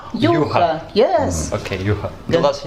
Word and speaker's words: Juha: Because I'm from Finland, so it's Juha. Juha.